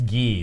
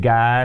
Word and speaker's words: Guy: Gee is how they say it. Oh, is that the... I like Guy. There's no one on Earth that pronounces their name Guy something? I think people, Americans, pronounce it Guy until they reach a certain age and they realize it should be Gee.